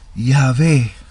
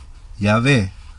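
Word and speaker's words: Iabe: theodore eto afirma que los samaritanos pronunciaba en el nombre ya ve si ya ve eso es como lo pronunciaban los samaritanos y ya ve iota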